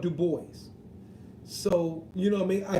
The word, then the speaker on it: Dubois: it properly modern properly for the UK Du Bois us in America we call it Dubois but Du Bois is correct it's the original way the correct way of saying it I agree